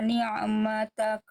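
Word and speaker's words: نعمتك: Jadi Bunda baca tadi begini. Ni'matak. Harusnya ni'matak.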